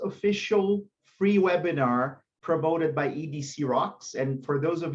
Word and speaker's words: EDC Rocks: They say Ed Crocs. So don't say that, please. It's EDC because it's English Development Courses.